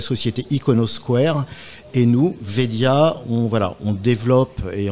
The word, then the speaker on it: Wedia: commercial de Wedia c'est alors on prononce bien Wedia et non pas wiidia ça sorortographie W ou vedia malgré le W malgré le W alors on va bien dire vedia vedia c'est quoiah vedia